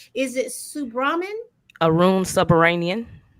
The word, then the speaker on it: Subramanian: Now, how do you pronounce this? Because I will mess his name. Is it Subramanian? Arun Subramanian. Subramanian.